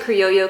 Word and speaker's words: Criollo: creo lo creo yo I pronounce it creo yo cuz it has the double L I believe that's correct Criollo that would be